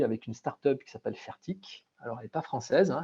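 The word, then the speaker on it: Fairtiq: Et là, typiquement, on travaille aujourd'hui avec une start-up qui s'appelle Fertic. Alors, elle n'est pas française, elle est suisse. Donc, ça s'écrit F-A-I-R-T-I-Q. Et si vous regardez aujourd'hui ce que fait Fertic, c'est une start-up suisse qui, il y a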